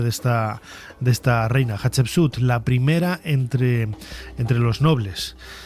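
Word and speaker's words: Hatshepsut: Yo de de pequeño, aún siendo un joven eggolco, decía Hatsut, hasta que un día me puse a leer las letras correctamente.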